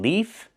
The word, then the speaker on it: leaf: One leaf with the F sound with no voice.